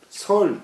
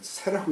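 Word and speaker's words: 說: 부사 동세 제왕왈 종인 설 대왕자 여기 새라고 읽어야 되는데 죄송합니다. 종인 새 대왕자 필활 제폐어 삼진하여 지광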